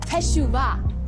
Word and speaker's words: teshuvah: It's pronounced teshuvah. Teshuvah.